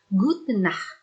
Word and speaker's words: gute Nacht: perbedaannya diantara yang lain di gute nacht kita tidak menggunakan m tapi hanya gudnait berbeda dengan guten morgen